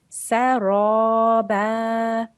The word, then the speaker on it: سَرَابًا: Remember that ra with a fatha, then you have to make that a thick sound. So that would be saraba. Saraba. Make your mouth round and say ra.